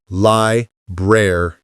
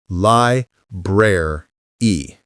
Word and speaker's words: library: Think of it as lie bre. The middle part has that rare sound. Lie breer e.